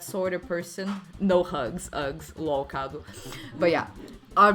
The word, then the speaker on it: UGS: Nah, but we are open for hugs, though. No! Okay. But yeah. It's pronounced U-G-S. Hugs. Ah, okay. I didn't say hugs, I said Uggs. Because it's U-G-S. Uggs.